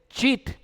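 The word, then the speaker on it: שית: La palabra espinos se dice chit. Se escribe con la chin, la yod y la taf.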